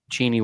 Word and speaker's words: Cheney: blue and green too it's pronounced oh well cheny Washington home of the